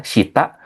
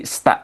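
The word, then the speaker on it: した: kita ada sta yang artinya bawah ya, sita atau sta itu kalau udah cepat nanti bacanya jadi sta gitu jadi enggak agak cepat cuma kalau bacanya masih baru jadi syita itu enggak masalah Minasang ya jadi sensus soalnya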